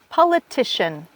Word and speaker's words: politician: Politician, Politician. Vous voyez, il se termine en I-A-N et pourtant il se prononce comme shun, revolution.